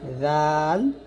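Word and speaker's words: ذال: জাল উচ্চারণ করতে হবে জিহ্বার আগা সামনের উপরে দুই দাতের আগার সঙ্গে লাগিয়ে পাতলা করে জাল আর যা উচ্চারণ করতে হবে জিহ্বার আগা সামনের নিচে দুই দাতের মাঝে লাগিয়ে যা এরকম।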